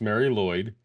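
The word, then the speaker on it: Mari Lwyd: yeah all right so Mary L Mary Lloyd pronounced Mary Lloyd is a Welsh folk tradition that involves a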